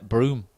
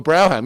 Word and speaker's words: Brougham: Do we pronounce it Broome? That just doesn't make any sense.